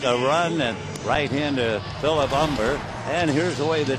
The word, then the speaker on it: Humber: On the mound is Philip Humber. The H is silent. He's a big guy out of Texas. If you fail and pronounce the H, he'd probably say, "Aw, eck."